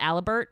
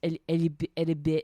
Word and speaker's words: Alibert: It's spelled Alibert, but it's pronounced Alibert.